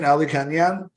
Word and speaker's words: Alikhanyan: further ado uh meet my guest ruben rubin aldi canyon so welcome to the show reuben nice to